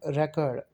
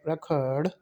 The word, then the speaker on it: record: Like here, record, it has two syllables, we will give stress on the first syllable, record. And when we pronounce it as a verb, we will give stress on the second syllable, record.